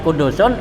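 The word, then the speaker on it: قدوس: Nah kecuali katanya as-subuhu wal kudusu, kalimat subuhun dan kudusun itu huruf pertamanya dhammah katanya gitu. An tasbih yakunu bitaat ya, subuhun tuh painal dhamma fihima aksaru, karena bacanya subuhun dan kudusun pakai dhamma huruf pertamanya itu katanya lebih banyak dibaca daripada sabuhun gitu ya.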